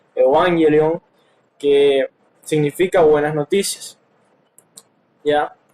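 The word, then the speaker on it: εὐαγγέλιον: La palabra Evangelio, que viene de una palabra viene de una palabra griega que se pronuncia así, Evangelion, que significa buenas noticias.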